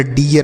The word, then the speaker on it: dear: जैसे डी से लिखेंगे ड और ई के साथ आर है, ई ए के साथ आर, तो इसका उच्चारण बड़ी ई की मात्रा यह लिखेंगे, आर से र, तो यह डियर हो गया।